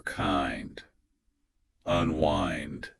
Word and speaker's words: unwind: be tempted to say unwind like the wind blowing in the tree, bro. But that is completely wrong. Here it is. In this context, it rhymes with find or kind unwind.